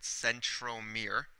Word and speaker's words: centromere: called the centrom okay it almost sounds like the word Center a little bit but centrom Mir and then a chromosome